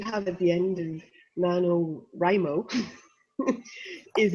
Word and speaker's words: NaNoWriMo: Here in America, we pronounce it NaNoWriMo.